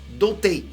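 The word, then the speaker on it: 童帝: O problema é que, em japonês, pronúncia de Imperador Criança é Doutei, que significa virgem.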